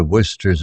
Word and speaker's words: Worcester: the idea of Explorations the villagers found it peculiar how sir worcester's name was pronounced Worcester a mystery in itself